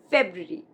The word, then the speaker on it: February: February. For example, her birthday comes in February. This one is very commonly mispronounced.